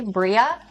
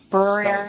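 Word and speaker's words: birria: The B I R R I A. Bria. Brier. Slower. B I R R I A. Spanish. Oh yeah. Briiera.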